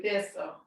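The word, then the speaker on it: Thi'sl: Thistle. Yeah, it's spelled Thi.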